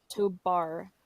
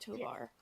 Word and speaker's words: Tobar: Tobar, not Tovar.